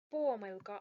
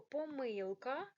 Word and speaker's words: помилка: на а в слові можна помилка або помилка тут подвійний наголос можна і так і так але помилки